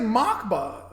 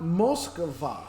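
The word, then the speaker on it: Москва: I said, Mockba. What is Mockba? And then you had to correct me and say, it's a Moskva. Moskva.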